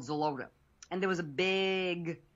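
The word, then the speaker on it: Xeloda: It's spelled, how do you pronounce it, Dr. O? Xolotl. Xolotl.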